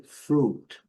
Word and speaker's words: fruit: Também, no mesmo atuado, vem fruit. fruit. Aqui, lembrando a letra U um pouco mais longa.